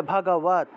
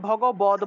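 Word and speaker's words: ভগবদ্: তাই হসন্ত যুক্ত দটাকে ততরূপে উচ্চারণ করতে হবে। তাহলে ভগবত ভগবত। ঠিক আছে? ভগ ভগবত উচ্চারণ করতে হবে। সংস্কৃত ভাষায় ভগবদ বলতে কোন কিছু নাই। মনে রাখতে হবে সংস্কৃত ভাষায় ভগবদ। বদ বলতে কোন কিছু নাই জগতে। ভগবদ বলতে কোন উচ্চারণ সংস্কৃত ভাষার মধ্যে নাই।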